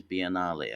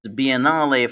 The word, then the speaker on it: Biennale: Uh was it Venice Biennale? I think I think that's that's the right way of pronouncing it.